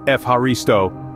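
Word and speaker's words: Ευχαριστώ: Then there is Efharisto, pronounced Efharisto, which means thank you.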